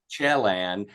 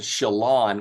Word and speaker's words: Chelan: you on two things no big deal it's pronounced Chelan we've been kept called Shalon which I like Shalon that kind of has